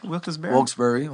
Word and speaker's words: Wilkes-Barre: T'as été justement à comment tu prononces Wilkes-Barre? Wilkes-Barre, ouais.